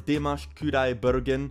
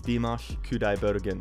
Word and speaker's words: Dimash Kudaibergen: there practicing it so i know it's dimash kudai bergen and do not tell me it's wrong it's dimash kudai bergen okay that is right